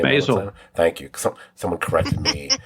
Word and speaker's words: Maisel: I mispronounced the last name. Maisel.